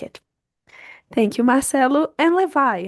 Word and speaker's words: Levi: Yeah, in the Brazilian accent could be Levi, but as a matter of curiosity, people with American accent have uh, a lot of difficult to say Levi as like with the strong syllable in the V.